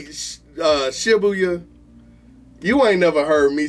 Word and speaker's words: Shibuya: Have you ever heard me say Shibuya? You ain't never heard me say Shibuya. My bad, it's Shibuya.